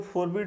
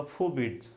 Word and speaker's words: forbid: ऐसे तो फोरबिड होता है, लेकिन रियल प्रोनाउंसिएशन आपका होगा फोबिड।